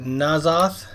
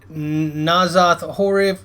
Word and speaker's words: N'Zoth: N'Zoth.